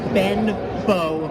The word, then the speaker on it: Benbow: well my answer is two syllables Ben Beau the shortest player left in the field the lovero for San Diego Annie Benbow was probably the most